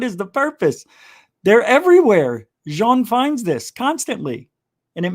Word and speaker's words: Jean: me about john ward he's french that's how you say his name not gene not john jean with respect he always